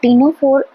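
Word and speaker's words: Ctenophora: अब टीनोफोर हम बोलते हैं टीनोफोर, बट ये शुरू होता है सी से, राइट। सी यहाँ पे साइलेंट है।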